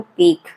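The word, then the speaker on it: pique: पीक। सही pronunciation है इसका पीक।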